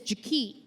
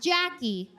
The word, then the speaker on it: JaKee: Her name is JaKee. Not JaKee, JaKee.